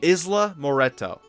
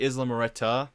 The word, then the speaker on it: Isla Moreta: It's actually Isla Moreta, not Moreto. There's an A, not an O. So I keep saying Isla Moreto. That's wrong.